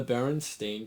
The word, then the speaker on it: Berenstain: air of a lecture the baron stain Bears t h e b r n s t a i n b a RS the only part of the entire phrase that doesn't have an e is the part that you say everyone keeps getting wrong but that doesn't explain